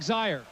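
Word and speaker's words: Zeier: the game and particularly Eric zeyer it rhymes with fire that's exactly what he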